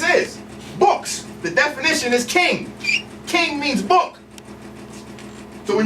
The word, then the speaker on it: Ching: Ching okay it's not chinging the rapper it's actually pronounced King and this is important